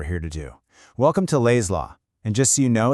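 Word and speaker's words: L'AI's Law: Welcome to Lays Law. And just so you know, it's pronounced Lays Law, L A Y. You know, for the lay person.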